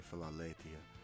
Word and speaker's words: Philaletheia: The word means forgetfulness or forgetting, and it's the it's the second phoneme in Philaletheia. Lethia is actually the proper pronunciation of Philala. It's actually Philaletheia.